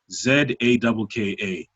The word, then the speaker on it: Zakka: Zaga spelled Zakka. Zakka. So that's repeated twice. Zakka, Zakka. I gotta spell it out because sometimes people just go to the wrong things.